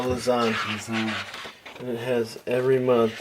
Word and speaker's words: Lausanne: This is pretty Lausanne? epic. Did I say it right? No, Lausanne.